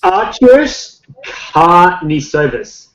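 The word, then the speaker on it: Artūras Karnišovas: And I don't know how to pronounce his name, but he was the GM for the Denver Nuggets. Arturas Karnisovas.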